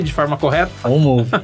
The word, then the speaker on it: OnMoov: Pronunciei de forma correta? OnMove, é isso aí.